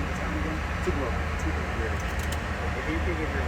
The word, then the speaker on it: Tupelo: Can you pronounce the name of the town again? Tupelo.